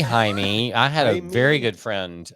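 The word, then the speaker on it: Jaime: don't know the name it's j a i m e so that's not Jamie that's no it's Jamie was ha no oh then I've been pronouncing a co-worker's name it could be haime had a very good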